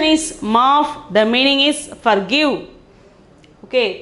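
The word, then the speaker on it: माफ़: The pronunciation is maaf.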